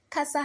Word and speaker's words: casa: try another example Casa Kasa has two syllables and so the first syllable is C and the second syllable is sa so our penultimate syllable is C because C is the syllable before the last syllable which is sa so we raise our voice at C or the word stress falls on C and then s you lower your voice so we have Ka sa Ka s with the